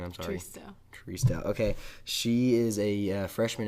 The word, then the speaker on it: Tristao: Tristao.